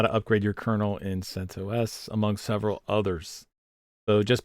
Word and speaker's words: CentOS: Yes, CentOS 7. Is that how you say it? CentOS? Which way is it? I typically say CentOS. Yeah. Okay. Both are okay.